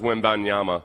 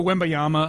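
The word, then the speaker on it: Wembanyama: Yeah, it's got an N and like on the in the media guide it's pronounced Wimanyama. Wimanyama. I think I do that sometimes and sometimes I just go wimbeayyama.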